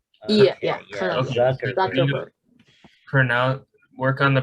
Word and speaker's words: Zuckerberg: Mark Jack Berger. Mark Jack Berger. No, isn't it Mark Zuckerberg? Oh, Oh, you're talking about Zuckerberg, right? Yeah, okay, yeah, kind of. Zuckerberg.